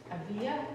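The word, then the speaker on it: Ávila: have saint teresa of avia if we're taking the spanish pronunciation there the same trees of avila loving god with your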